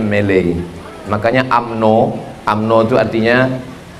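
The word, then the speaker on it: Malay: Melayu itu orang Inggris menyebutnya melei.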